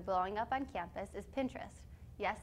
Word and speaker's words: Pinterest: A popular website that has been blowing up on campus is Pinterest. Yes, it is pronounced like interest and purposefully so.